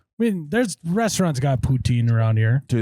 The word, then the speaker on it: poutine: Putin. Poutine. Poutine. Don't mispronounce it.